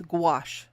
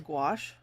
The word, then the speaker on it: gouache: Little gray, pronounced as gouache. Oh yeah, that's why I know that's for some reason my head is just not working with me today. I knew it was gouache.